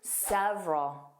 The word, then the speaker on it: several: What sound didn't you hear? Again, that middle sound. So, it sounded like two sounds. Sev is the stress sound. Roll. And again, that a l is becoming the schwah. So, it's unstressed.